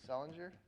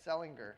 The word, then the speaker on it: Selinger: or sometimes called the Selinger search strategy after Patricia Selinger. Oh, sorry, Selinger. I always said her name wrong. She pronounces it Selinger.